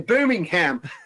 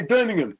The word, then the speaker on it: Birmingham: You see, I just said it like an American there, Birmingham. We don't say it like that here. We say Birmingham.